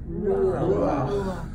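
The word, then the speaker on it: רוּחַ: If you have a word and it ends in a het, and under the het is a patak. It's pronounced a certain way.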